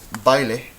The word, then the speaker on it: baile: We have baile and caída. Baile, caída. Well, this, we can see the diphthong right here. The a and the e together make baile. 2 syllables, right?